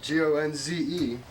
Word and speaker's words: Gonze: my name is spelled g-o-n-z-e it's actually um gonz which is uh related to uh apparently originally gonzalez uh i'm uh one